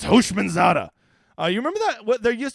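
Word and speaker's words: Houshmandzadeh: Oliver says it's pronounced Hoshmanzada.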